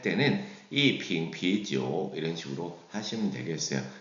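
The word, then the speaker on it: 瓶: 그래서 한 병 그러면이 빙 이런 식으로 해서 병을 세는 단위는 중어로 빙 끌어올리면 되겠고요.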